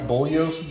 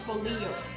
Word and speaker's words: bolillos: Anyways, you take these white Bollios buns that they got at HEB. Wait, let's not forget to show Blake's beer, too. Take the white Bullios buns that I had to be told how